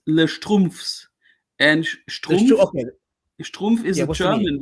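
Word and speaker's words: Les Schtroumpfs: Les Schrumpfs. Is it Les Schrumpfs? There's meaning behind it. It's Les Strumpfs.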